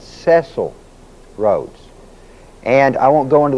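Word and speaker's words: Cecil Rhodes: Now, if you'll know notice, his name is spelled CE C I L. Most people pronounce it Cecil Roads, but it's not. It's Ceil Roads.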